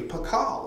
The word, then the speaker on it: Pakal: That was the phonetic way to say Pakal. So he's the first one, that's the real first thing they do, that there was other places where it said pa, ka, and la. So it was phonetically sounding out his name.